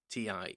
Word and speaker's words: Temu: I think it's Temu, as in Timu, but it's spelled Temu.